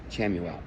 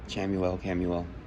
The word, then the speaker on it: Chamuel: And Peace, Archangel Chamuel. Camuel. Everybody pronounces it different.